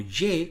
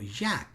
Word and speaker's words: Yah: No se pronuncia como Ye cuando se contrae, sino como Yad.